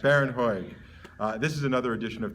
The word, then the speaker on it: Bharon Hoag: Bharon Hoag.